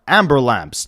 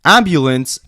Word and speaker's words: ambulance: Amber lamps obviously being a different way to pronounce the word ambulance actually originated from a